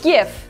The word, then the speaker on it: GIF: And it's GIF, it's not GIF, it's GIF. Oh, starting a war in the comments. Yes, I am. GI can be pronounced multiple ways in English, and it changes based on the etymology, the origin of the word, not on what comes after it.